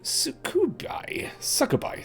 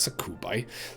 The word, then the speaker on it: succubi: And Anna goes in and she's one of the fiends, one of the succubi. Not succubi. That's not how you pronounce that. Succubi.